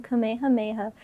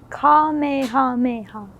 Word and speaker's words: Kamehameha: I bought a San Diego Comic-Con exclusive edition figurine set of Goku and Gohan doing a father-son Kamehameha to defeat Cell.